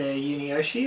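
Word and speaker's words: Yunioshi: have to talk about the character of mr yuni yoshi that's how you pronounce him yeah um which was portrayed by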